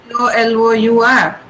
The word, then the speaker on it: colour: For example, in color, we say COLOUR, right? We don't pronounce the U there at all.